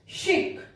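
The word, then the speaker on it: chic: शिक, गॉश, निश। तो ऐसे बहुत सारे वर्ड्स हैं जहां पर कि CH को शा प्रोनाउंस किया जाता है।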